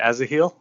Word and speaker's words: Asahiel: Am I pronouncing that correctly? Yeah. I say Azaheel, but I've heard Asahiel.